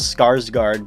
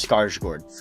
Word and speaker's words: Skarsgård: who's played by Bill scars gored everyone says skarsgård because they're darn Americans but it's pronounced scar Schwartz gosh poor skarsgård he makes this character he